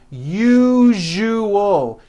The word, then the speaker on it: usual: Break it up into 3 syllables. U-ju-ul. That second syllable, ju, the one with the underline, needs to be voiced. Put your hand on your throat and feel for the vibration in the second syllable.